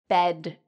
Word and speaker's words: bed: for the last consonant now which one do I say longer so listen carefully bet bed you'd probably say bed and that's correct so it's important to